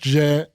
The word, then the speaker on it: Djent: It's pronounced Djent. People like jokingly call it Djent. It's like a form of progressive metal where like it's literally named after the sound the guitar makes because it's real.